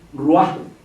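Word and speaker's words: רוח: soplo, aliento, exhalación, espíritu, dicen la palabra igual de pronunciación aramea y hebrea, ruah, y la palabra ruah es femenina.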